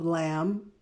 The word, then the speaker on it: lamb: for shank hind shank lamb that be is silent lamb breast of lamb for shank hind shank